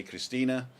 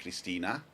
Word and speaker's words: Christine: christina spells the name christine and the germans just pronounce the e so i say christina and it sounds like christina but she she spells